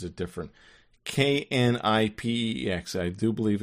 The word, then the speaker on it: Knipex: Knipex. I do believe it's pronounced Knipex.